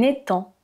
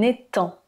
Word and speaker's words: étang: C'est un étang, un étang. On ne prononce pas le G, ou une mare: "L'étang du village est plein de grenouilles."